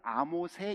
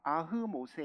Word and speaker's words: 아흐모세: 어렵죠 투트모세 쏘리 쏘리 아흐모세 일세 영어로는 아모세 일세 우리는 어 저거 뭐죠 그 히브리 말로 해야 되니까 아흐모세 일세라고 합니다 어떤 책에는 아흐모세 1세라고 하기도 하고 발음이 다양해요 뭐 데이빗을 다라고 하기도 하고